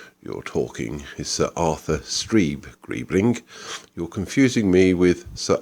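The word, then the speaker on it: Streeb-Greebling: talking is Sir Arthur stre gribling you're confusing me with Sir Arthur Gree streeling I'm so sorry quite all right my name is stre gribling the Zed is silent as in Fox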